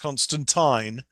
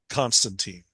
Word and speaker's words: Constantine: a Liverpoolian accent, Yeah, and it's supposed to be pronounced Constantine, not Constantine. That's Oh, Americanized, bastardized version that we have. I'm an American bastard. I'm gonna call it Constantine.